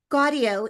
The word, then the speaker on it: Gaudio: audio with a G. Gaudio in the Clint Eastwood film Jersey Boys, reprising his performance from the stage production of the hit musical.